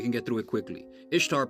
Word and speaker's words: Ishtar: Ishtar, pronounced Easter, is a day commemorating